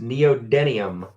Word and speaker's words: neodymium: jim smith says pronounced neodymium neodymium i always say dinium but it's denium so that works neodymium like